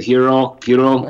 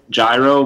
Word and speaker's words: gyro: not a big fan of pronouncing it hero, but just say it gyro, but there's a good place in Worcester, Boomers, that has it.